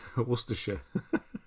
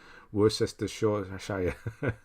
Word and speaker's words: Worcestershire: how you would say that's how americans say isn't it the worst sister show they try and spell say it phonetically and it just doesn't work that's maybe why we've